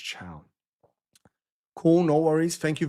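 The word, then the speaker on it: Thiaw: Malik Fell's name is pronounced Chow.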